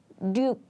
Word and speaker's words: 육: word, we just say 육. But when this 육 comes in the middle of the word, we often pronounce it like 륙, 륙, 륙.